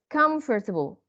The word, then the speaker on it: comfortable: we delete them okay what about the disappearing syllables like the word comfortable if we say come four syllables right we say it like this come first of all comfortable but like this comfortable comfortable comfortable and remember that the stress is on the SEC the first syllable because it is an